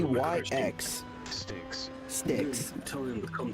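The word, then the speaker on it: Styx: Sticks. Sticks. Tell them to come towards me. Okay. Sticks. Are you Mr. Shelly Sticks wife? Well, Miss Shalley Stick's wife.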